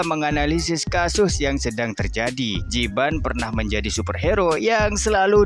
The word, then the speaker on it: Jiban: Jibun kan, cu. Jiban, kek. Kakek bacanya Jibun.